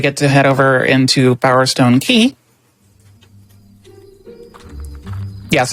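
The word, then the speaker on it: Bowerstone Quay: Now we get to head over into Bowerstone Key. Yes, I pronounced it Quay my whole life too.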